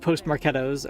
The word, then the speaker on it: postmarketOS: I'm still pronouncing it Postmarketos, okay?